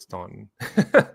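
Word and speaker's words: Staunton: and they call it Stanton yeah we have um Stanton River State Park Stanton River Battlefield State Park locally that's the way it's pronounced there's also a couple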